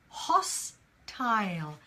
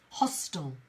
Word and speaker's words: hostile: we have hostile hostile now in British English we pronounce the last bit as tile ail hast turned on a tail hostile Isle but in American English often you'll hear the word hostile it's a hostile takeover hostel hostel yeah and either pronunciation is correct it depends who you're